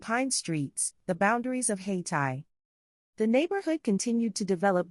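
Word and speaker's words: Hayti: Haiti, pronounced Haiti, also called Haiti District, is the historic African-American community that is now part of the city of Durham, North Carolina.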